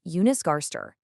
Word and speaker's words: Jonas Gahr Støre: For instance, Norway's Prime Minister is Jonas Gahr Støre, pronounced Jonas Gahr Støre, and Sweden's is Ulf Kristersson.